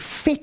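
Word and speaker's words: PhET: excuse me from the site called fet simulations and fetis is spelt p h e t okay and uh if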